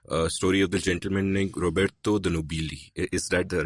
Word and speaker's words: Roberto de Nobili: For example, your book begins with this story of the gentleman named Roberto de Nobili. Is that the right pronunciation?